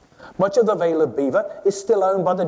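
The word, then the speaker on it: Belvoir: Bellev Bellevoir. Right. History has it that the local Anglo-Saxons couldn't pronounce the French and called it Beaver.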